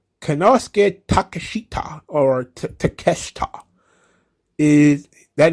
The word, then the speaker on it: Takeshita: is wrestling kononos konosuke takashita or takeshita takeshita the eye is silent okay so of course